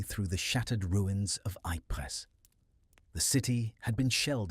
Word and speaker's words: Ypres: They named it the Wipers Times, after the British Tommy's cheerful mispronunciation of Ypres, because saying Ypres was considered frankly above one's station.